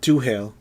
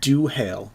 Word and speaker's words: Duhale: My name is Duhale, and you hear it. Spell it. Say it again? It is Duhale. The full name is the word dew, like dewdrop, and then hail, like hailstorm. Duhale.